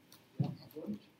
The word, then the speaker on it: Wundt: Wundt, yeah. Wundt. Remember in German, W's are pronounced as V's.